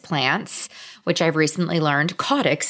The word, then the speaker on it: caudex: which I've recently learned codex is the correct way to pronounce it and there's a lot